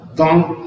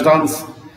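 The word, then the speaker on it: dans: اليا يوجد، دون يعني في، اسمها دون، اسمهاش دانس، الاسم ما انطقهوش خالص، دون لا تروس، ماذا يوجد في المقلمة؟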